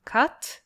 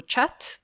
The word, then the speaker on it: Khat: things that are happening with Khat or Chat, depending on how you say it, the things that are happening with Chat is not the only thing that's going on in Ethiopia.